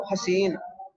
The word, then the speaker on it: حسین: کنیت ہے ابو حسین، لفظ یہی ہے لیکن تلفظ فعیل کے وزن پر کریں گے، ابو حسین، لکھ لیا جی۔ ایسے ایک لفظ ہے حبان، کیا نام ہے؟